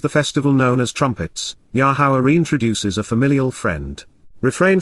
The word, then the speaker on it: Yahowah: and concerning, on behalf of and according to, Yahowah, the proper pronunciation of Yahowah, our Eloah, God as directed in his Torah, teaching regarding his Hayeh, existence and our Shalom, restoration.